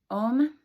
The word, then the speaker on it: Om: right to it um om is made of three syllables there's a o and um spelled a-u-m as you see it